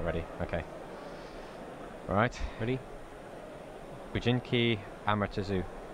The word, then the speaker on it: Amaterasu: Bujinki Amaretsu. Amaretsu. Amaretsu. not Amaretto.